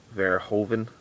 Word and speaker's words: Verhoeven: Paul how do you pronounce his name? Verhoeven.